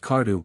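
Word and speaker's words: Kardu: the breeding of cattle their name pronounced cardu by the ancient syrians and Assyrians cordai the Armenians plural cordak first appears in its narrower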